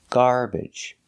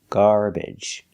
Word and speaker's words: garbage: and up so we can make that sound garbage but you can also pronounce it with the short e like eggs and bed garbage garbage because it's not stressed and the third correct